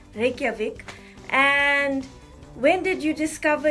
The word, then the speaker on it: Reykjavik: capital city is Reykjavik I don't know if I pronounced that right but we pronounced J is why here so Reykjavik and when did you